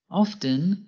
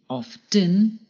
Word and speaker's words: often: Often can be pronounced two ways, by pronouncing the T, often, or by not pronouncing the T, often.